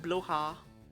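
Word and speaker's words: Blåhaj: It's not even pronounced Blahaj, it's pronounced Bloha, I believe.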